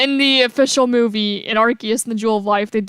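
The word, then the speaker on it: Arceus: stuff a fun fact people say Pokemon AR is wrong and when the official it says archus and people usually say arus I say archus and I've always said archus yeah in the official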